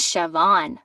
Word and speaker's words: Siobhan: of it i mean my mama's name is siobhan i say it's spelled s i o b a i mean